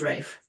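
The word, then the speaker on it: Ralph: came a handsome young straightforward military man called Rafe Partridge, spelt Raff, pronounced Rafe.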